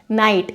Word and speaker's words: knight: यहाँ पर जो KNIGHT है नाइट, इसका मतलब होता है योद्धा।